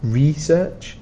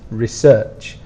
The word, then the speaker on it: research: The spelling is okay, research, but remember we have a noun which is research and a verb which is research. So you change the pronunciation a little bit.